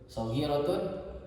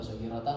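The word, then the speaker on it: صغيرةٌ: Soghiratun khobar. Makanya dibacanya soghiratun, bukan soghiratan, bukan soghiratin, atau bukan soghiratu. Kenapa bukan soghirati?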